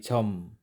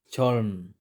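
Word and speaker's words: 젊: word na chom chom kapag mag-isa lang siya ang pagbasa niya ay chom hindi chm at kapag ang kasunod nilang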